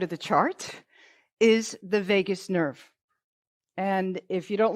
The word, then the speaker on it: vagus: On the right side of the chart is the vagus nerve. And if you don't learn anything from me today, then I want you to look up the vagus. VAGUS, people think it's Vegas.